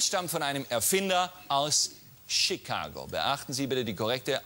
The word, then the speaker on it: Chicago: dass das patent stammt von einem erfinder aus chicago beachten sie bitte die korrekte aussprache chicago nicht chicago seine chicago chicago ging mir das